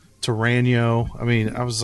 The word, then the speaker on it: Torano: I can't even pronounce it wrong. CAO was Cal, Yeah. KO. Yeah. And then Torano was Torino, Torano.